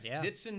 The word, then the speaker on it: Dithson: no no no it's ditson dixon d-i-t-h-s-o it's silent the h is silent all right but and